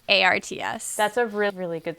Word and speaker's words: Harts: I just want to add for people who are searching that it's not Hearts, Hearts, it's Harts.